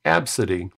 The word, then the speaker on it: Abcde: So when I messaged the bank to find out or check with the bank, they said, no, the name is pronounced Absidy.